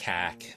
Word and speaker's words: Cork: When you read the answers out, I thought, it's going to be Cork, and then I was like, no, I'll stick with my original one. Or never mind. As the locals pronounce it, Cark.